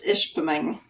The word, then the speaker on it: Ishpeming: Michigan I hope I got that right it's Ishpeming ish ping ish we have we have clients